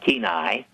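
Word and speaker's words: Kenai: Anchorage they got a little plane down to keenai which is 10 miles from sna yeah I'm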